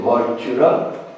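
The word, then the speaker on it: Mag Tuired: Elle porte le nom de Magtured, il faut prononcer Moitura, et au cours de cette victoire, enfin au cours de ce combat plutôt, les dieux vainquent les démons.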